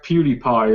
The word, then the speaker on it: PewDiePie: I think it's supposed to be pronounced PewDiePie, as in cutie pie.